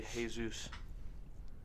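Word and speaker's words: Jesús: I've heard that too but they say hey Zeus and you know Spanish yeah countries why is the JH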